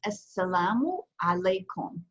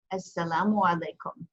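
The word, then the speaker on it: السلام عليكم: So it's pronounced Assalamu alaikum. Assalamu alaikum.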